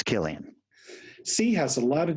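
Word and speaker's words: Cillian: oh yeah so Killian Murphy Killian okay it's Killian see has a lot of different pronunciations today it's also and a couple he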